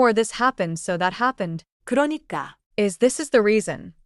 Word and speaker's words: 그러니까: 그러니까 the stress is not heavy. Just flow through it. Repeat after me. 그러니까.